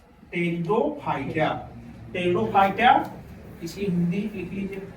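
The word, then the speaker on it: Pteridophyta: Cryptogams के अंतर्गत कौन कौन आया, थाइलोफाइटिया, ब्रायोफाइटिया, टेरिडोफाइटिया, साइलेंट है।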